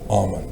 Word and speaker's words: Amon: Egyptologists pronounce it Amon, and it's spelled different ways depending on which European country you're from.